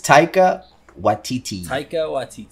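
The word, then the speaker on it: Taika Waititi: do you pronounce mueller actually how do you pronounce the director's name that's actually something i was gonna ask it is taika watiti okay yeah so yeah big fan uh what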